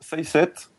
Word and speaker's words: Saycet: Donc, redis-moi le nom de l'artiste pour que j'essaie de le prononcer. Alors, Say7, Saycet, et son album c'est Mirage.